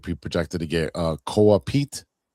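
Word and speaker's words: Koa Peat: projected to get uh KA Pete. I think that's how you say his name. It's K O A P E A T.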